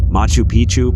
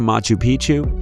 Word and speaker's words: Machu Picchu: Machu Picchu, Peru. When a place rhymes with picture, you can almost bet it will always give breathtaking images every time.